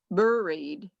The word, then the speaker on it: buried: though it's an a buried very instead of buried it's buried okay so we've talked about some of the pronunciation things in this do you have any